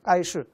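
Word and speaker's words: 盖世: 까이슈. 아마 갤럭시를 아마 호칭을 중국식으로 바꿔서 까이슈라고 했습니다. 그런데 까이슈가 이게 까이스, 그러니까 반드시 죽는다는 중국어 그런 중국어랑 발음이 같은 거예요.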